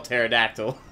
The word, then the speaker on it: pterodactyl: Maybe you looked up how to spell pterodactyl. But this is going to be... I definitely haven't heard this one. I've never heard a dinosaur-based joke, so I'm excited to hear this. Because the P is silent.